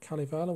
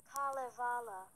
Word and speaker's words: Kalevala: So you can see there, it's a creation myth, telling stories about the carrying on in Kalevala, which is the name of the land in which the story is set, but it's another name for Finland.